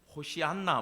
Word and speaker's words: 호산나: 호산나가 내 원문으로 발음이 안 되는데 호시안나 뭐 이래요 원문이.